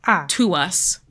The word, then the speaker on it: TWS: And they pronounce it to us.